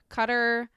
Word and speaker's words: Qatar: from it is that everybody pronounced it uh cutter cutter whatever you want